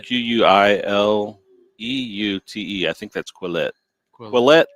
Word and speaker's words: Quileute: It's Quileute.